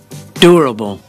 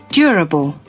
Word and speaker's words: durable: แบบ อเมริกัน แบบ นี้ durable durable ถ้า เป็น แบบ British ออก เสียง แบบ นี้ durable durable durable อื durable